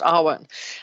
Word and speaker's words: awen: the celt it's the r1 and so the the r1 is is chanted at quite a low sound uh and it means inspiration it's actually spelled awen but it's pronounced arwen uh so a lot